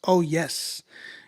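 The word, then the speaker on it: Oyez: Uh, much of my testimony is sprinkled through the track artist Oy pronounced Oh, yes. Meaning, listen up.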